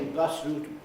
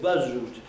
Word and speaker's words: bus route: things like that and if you don't say bus route uh avoiding this assimilation then you get buzz root instead of iceberg you